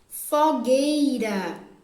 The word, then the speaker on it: fogueira: a resposta terceira palavra fogueira pó gay gay gay tem a letra u mas também não é pronunciado fogueira quem não sai